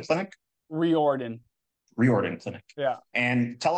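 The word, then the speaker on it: Riordan: at the RO how do you say it Roden clinic reordan reordan clinic yeah and tell us a little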